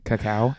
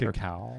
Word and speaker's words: cacao: But they also have they also have coffee that's made out of cacao. That's how you say it. Cacao.